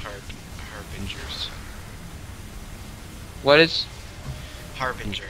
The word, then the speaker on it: Harbinger: It is pronounced harbingers. What is Harbinger? It's not Harbringer. It's Harbinger.